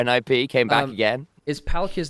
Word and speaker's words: Palkia: Yeah, it's just the Japanese kind of like pronunciation of it. Palkia. So we just say Palkia, it makes it easier for us.